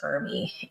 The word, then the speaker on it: ERMI: a test called the ERMI, and it's ERMI, pronounced ERMI.